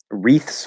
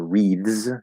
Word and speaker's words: wreaths: Anyway, wreaths or wreaths. You can use voiced or voiceless there. I asked a native, and he said, "I just say it like TS."